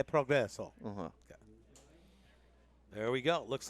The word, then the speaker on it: progresso: E progresso. E progresso.